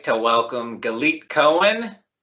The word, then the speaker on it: Galit: Well, my name's Galit. It's like delete, but with a G, in case anybody needs some tips on how to say it.